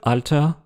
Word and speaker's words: oida: devenir e argent un mot à retenir c'est prononciation locale de alta vieux mais c'est devenu une interjection qui peut